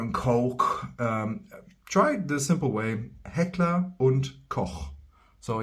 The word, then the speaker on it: Heckler & Koch: So yeah, Koch might be difficult for you, but just for you, if you wanna brag in front of your friends and be like, yeah, no, I actually know how to pronounce this. It's Heckler und Koch.